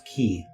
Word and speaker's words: quay: smaller circle is um let's pronounce key well it's spelled like clay so i mean who's